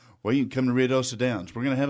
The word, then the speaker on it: Ruidoso: Well, we have a listener who has texted us and wants to know how you pronounce Ruidoso. Ruidoso.